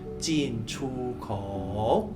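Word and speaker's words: 进出口: Kalau di bahasa Mandarin itu kita bacanya jin chu kou.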